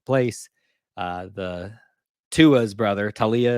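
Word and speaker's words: Taulia: uh the tua's brother Talia is how you say his name Tu laoa uh will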